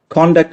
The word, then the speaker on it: conduct: അതിന് ഇംഗ്ലീഷിൽ നമ്മൾ പോയിട്ട് കോൺടാക്ട് സർട്ടിഫിക്കറ്റ് വേണമെന്ന് പറയും. അത് വാസ്തവത്തിൽ കോൺടാക്ട് അല്ല, അത് കോണ്ടക്ട് ആണ്. അതിന്റെ ഉച്ചാരണം കോണ്ടക്ട് എന്നാണ്.